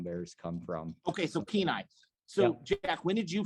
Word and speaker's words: Kenai: and then the town next to Soldotna is called Kenai, and that's where the Kenai River Brown Bears come from. Okay. So Kenai.